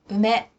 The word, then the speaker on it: 梅: In ordinary conversation, when the Japanese syllable U comes before ma, me, or mo, it is often pronounced as if it were the syllable M. 馬、 Horse, 梅、 plum, 埋もれ木、 fossil wood.